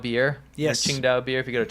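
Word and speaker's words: Tsingtao: This is kind of near if you guys have heard of Ching Dao beer. Chingdow beer if you go to a Chinese restaurant. It's you might pronounce it as Tingo.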